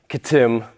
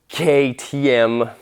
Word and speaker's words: KTM: fine the gig's up i know it's not pronounced katim i've heard of ktm it's an austrian or